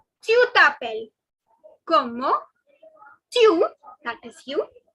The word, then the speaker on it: t'appelles: Comment tu t'appelles. The last S is silent.